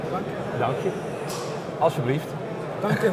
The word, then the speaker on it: Dank je: Dank je. Dank je.